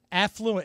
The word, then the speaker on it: affluent: Affluent. It's affluent. The accent is on the A.